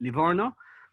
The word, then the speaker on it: Livorno: all the history books but today everybody calls it lavona and it's it's a